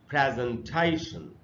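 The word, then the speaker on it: presentation: तो इसको ऐसे पढ़ेंगे प्रेजेंटेशन, प्रेजेंटेशन। ये इसका बिल्कुल सही उच्चारण है। हम लोग इसको पढ़ लेते हैं प्रेजेंटेशन, वो इसका सही उच्चारण नहीं। आप देखिए आपके सामने लिखा हुआ है प्रेजेंटेशन, इस तरीके से इसको पढ़ना चाहिए।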